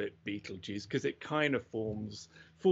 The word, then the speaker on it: Betelgeuse: I think you should just launch into astronomy, not worry about pronunciation. But most people call it Betelgeuse, but we know it's not Betelgeuse. The proper way of pronouncing this is Betelgeuse.